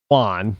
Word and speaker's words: Juan: So, and when you say, if you're Americanized, then your name might be Juan. But if you're coming from south of the border, it's Juan. Juan with a W, it's Juan, because a J is not W, it's Juan.